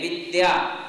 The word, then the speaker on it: विद्या: तो विधा में हमें वी के ऊपर जोर नहीं देना, किंतु विद्या में वी के ऊपर जोर देना पड़ता है। क्यों? क्योंकि आगे संयुक्त अक्षर है।